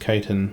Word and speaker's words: chitin: I think it's actually pronounced chitin, like the material that they're exoskeleton is made of, the hard stuff, CHITIN, I believe it's called.